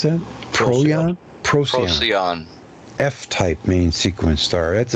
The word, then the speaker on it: Procyon: How do you pronounce that? Procyon? Procyon.